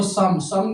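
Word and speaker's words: 삼: तीन नंबर को सम किसे कहते हैं? ये अपने पास सी होता है। इसकी यहां पे सी में आवाज़ आ जाएगी। आवला वला बन गया। सा आगे ब तो बन गया सम ठीक है बना इल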